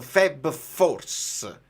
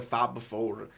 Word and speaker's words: Fab Four: Pellegatti ha detto Feb Force, dice tipo febbraio forse, invece di dire Fab 4.